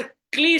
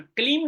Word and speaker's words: क्ली: ये बार बार उच्चारण, कलीम नहीं क्ली। वहां आपने देखा सत्यव्रत एक कर रहा था बिंदी के बिना, एम नहीं कर रहा था, क्लिंग नहीं कर रहा था, क्ली क्ली का ही वो उच्चारण करने लगा।